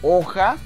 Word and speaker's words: hoja: número 7 Recuerden que la palabra hoja se escribe una H al inicio y recordemos que la H es muda aquí del lado izquierdo